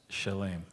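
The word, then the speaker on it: Shalem: S H A L E M and you pronounce it? Shalame. Shalame.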